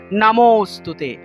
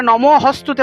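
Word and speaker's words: নমোঽস্তুতে: তা লুপ্ত এর উচ্চারণটা হবে মূলত অ এর মত অনেকটা। অর্থাৎ নম নমোস্তুতে।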